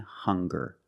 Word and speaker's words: hunger: Also, we have these two words, hungry and hunger. They also make the same sound with the nasal sound and the hard g.